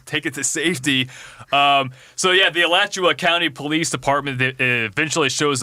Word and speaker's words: Alachua: middle of US 441 in I think it's pronounced Alachua County, Florida.